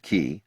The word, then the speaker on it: Ki: While mages use mana to power their skills, supers use key, pronounced key, to power theirs.